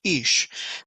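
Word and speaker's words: אישׁ: and the whole element or with the Herrick is pronounced ish now in the Bible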